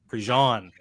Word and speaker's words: Prejean: It's Cary Prejean, and I mispronounced his name for like 2 months straight because is Close Prejean enough, Troy. French? Prejean Yeah. is French, yes. Oh, see, there you go, Prejean.